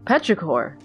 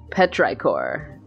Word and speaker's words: petrichor: much to it but rykor petrichor I've never known how that's pronounced what did you call me petrichor that's what the smell